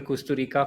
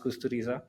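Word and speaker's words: Kusturica: Uh so I've been saying Emir Costa Rica for many years but I realized it's pronounced Kusteriza.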